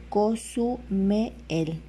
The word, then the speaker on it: Cozumel: luego el o sea se pronunciaría así cosume el Aquí está el trazo